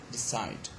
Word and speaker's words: decide: look at this one decide so we have got two syllables the first one is d and the second one is side inside has got i